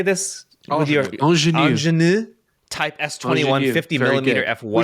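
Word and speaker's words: Angénieux: Angenieux Type S21 50mm f1.5. We should ask our future guest. It's Angenieux.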